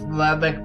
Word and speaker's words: Lubbock: important but I just wanted to say it's Lubbock Texas just so you know it's what sorry pronounce Lubbock oh thanks awesome thank you Sammy